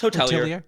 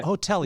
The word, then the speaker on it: hotelier: If you haven't listened already on LinkedIn and every other platform, I kept saying it wrong. It's Hotelier. It's okay. Hotelier. We go by either.